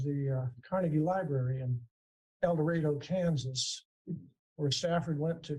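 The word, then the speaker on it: El Dorado: And we're on the steps of the uh Carnegie Library in Elorado, Kansas, where Stafford went to community college before he went to the University of Kansas. And it's in Kansas. It's pronounced El Dredo if you're ever there.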